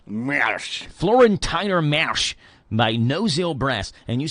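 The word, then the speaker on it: Marsch: and name of the song looks like you pronounce it florentiner Marsh m a r s c h is not Marsh there's an as M Mar florentiner Mas by noil brass and you said they're coming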